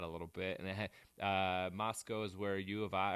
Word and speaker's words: Moscow: in idaho last week in uh it's spelled moscow but it's pronounced moscow don't get it wrong or they'll get no